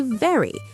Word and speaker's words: very: Today you say very. Progress. That V sound is important. Bite your lip gently, not like a vampire.